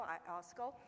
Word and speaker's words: IOSCO: And second, as IOSCO, regulated index administrator, IOSCO is really hard to pronounce. It's International Organization of Security Commission Organization. It's mouthful. It's like ISO, IOSCO.